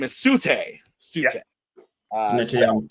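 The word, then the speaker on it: Tsu'tey: And it's the silent T at the front, Sute, yeah.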